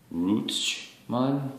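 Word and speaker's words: Ruestchmann: Because I wanted to say the French Rue, but then you've got the Deutsche Ch. So Reustman.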